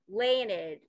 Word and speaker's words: Leinad: name by the way leonard it's just my it's just my husband's name backwards daniel it's uh when we